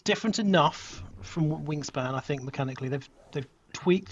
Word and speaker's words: Wyrmspan: WyrmSpan. No, is it WyrmSpan? How do you say that? It is WyrmSpan. Yeah, WyrmSpan. It is WyrmSpan. With a Y, not an I.